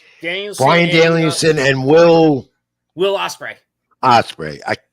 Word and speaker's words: Ospreay: Brian Danielson and Will Ospreay. It's another one I botched up. Just like the bird.